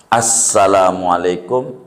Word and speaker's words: Assalamualaikum: lafalnya kudu ada lafalnya di samping itu tasdidnya jangan hilang Assalamualaikum Ada tasdidnya satu di yang wajib nih satu enggak boleh tasdidnya hilang syidahnya ini Jadi jangan sampai